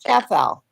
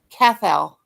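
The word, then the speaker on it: Cathal: His name is Cathol. It's what? Cathol. Yeah. But GB spell it again. I'm hearing some kind of That was Ariel. C A T H A L C A T H A L is his name.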